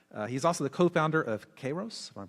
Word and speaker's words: Kairos: He's also the co-founder of Kairos, if I'm pronouncing that correctly, which is a data analytics